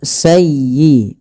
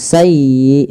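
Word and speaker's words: سَيِّئَةً: Kemudian sayyiatan wa a bih walafal sayyi tekan di huruf ya-nya karena dia ya tasdid dan lembutkan ya. Sayyi bukan sayi bukan sayi bukan sayi tapi sayyiata sayyiatan wa ahat bih tidak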